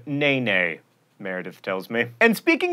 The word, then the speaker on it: NeNe: member of the real housewives of atlanta who pronounces her name nene meredith tells me and speaking of memes it's